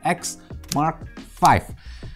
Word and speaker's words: XM5: yaitu bacanya bukan xm5 tapi X Mark 5 akhirnya setelah kurang lebih